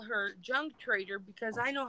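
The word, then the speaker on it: Junque Trader: Yeah, it's JUNQUE. I thought it was unique with a silent J. No, it's Junk Trader.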